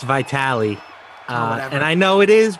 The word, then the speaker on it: Vitale: Jim says it's pronounced Vitali.